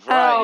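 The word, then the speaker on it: Vrije: right oh the the free university the fry university.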